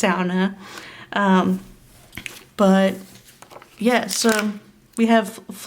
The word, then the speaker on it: sauna: It is a Finnish word, so it's pronounced sauna, if you want to show off in front of any Finns. But they love it when it's pronounced sauna.